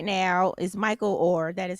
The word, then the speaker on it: Michael Oher: you know in the news right now is Michael Oher that is how you say his name yes